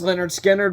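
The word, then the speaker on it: Lynyrd Skynyrd: Holy by Led Zeppelin pronounced Leonard skinnard by Leonard skinnard Selling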